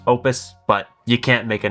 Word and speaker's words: Oupes: It's pronounced Opus, but you can't make a name like this and not have everybody calling it Oupes, so we're calling it Oupes.